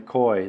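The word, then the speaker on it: cuy: Yeah, that you mentioned the koi. That's a lot of people don't know what koi is. And that's not spelled the way it sounds. It's spelled C-U-Y.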